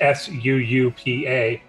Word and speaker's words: Suupa: But just typing in Suupa, which is SUUPA. Suupa. Because that's how you spell Suupa, apparently. Suupa. That's the way to go. Suupa. Yeah. Yeah, think of Todd pronouncing supply. It's similar to that.